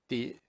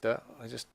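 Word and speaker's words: 的: So in the dialogue, one of the characters talks about an jing di. The should be pronounced de. But you type it in as di.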